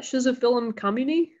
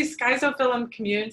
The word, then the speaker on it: Schizophyllum commune: Is that Schizophyllum communi? Yeah, oh, I love how everybody pronounces it differently. I say Schizophyllum commune, some people say Schizophyllum, Schizophyllum. Yeah, it's a split-gill fungus.